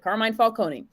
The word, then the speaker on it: Carmine Falcone: interesting because he talks late they talk about carmine falcone that's how you pronounce it carmine falcone they talk about how he's kind of responsible